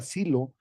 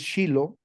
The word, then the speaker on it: Shiloh: tal como se describe, se anota Silo, pero es Shiloh, ¿verdad? Se compone de tres consonantes hebreas, una Shin, una Lamet, una Holenbab, así se escribe y así se pronuncia, Shiloh, pero lo trascendente de